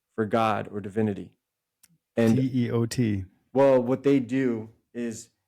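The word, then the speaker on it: teotl: And T-E-O-T. Well, what they do is they terminate it with an L. So it looks like Total, yeah. But the L is silent.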